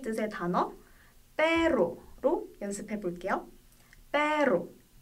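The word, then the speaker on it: perro: 문자 얼이 단어 첫 번째에 나오거나 N, S, L 뒤에 나올 때 그리고 얼 두 개로 표기될 때 이렇게 발음해 주시면 돼요.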